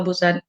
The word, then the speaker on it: Busan: foreign studies BUMD dari kota Busan bacanya pusan kalian tetap pesan di